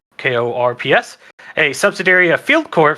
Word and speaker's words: Corps: Corp spelled like corpse, but Korps.